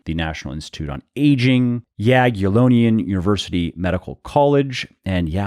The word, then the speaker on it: Jagiellonian: al Borg University the National Institute on Aging Jagiellonian University Medical College and yeah I pronounced that one correctly I had to look